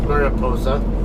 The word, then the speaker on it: Mariposa: I can take Mariposa Road or Mariposa, whichever way you guys prefer to pronounce it. Of course, I'm pronouncing it the Spanish way. The usual English way is Mariposa.